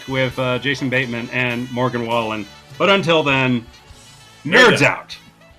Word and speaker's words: Wallen: Wallen.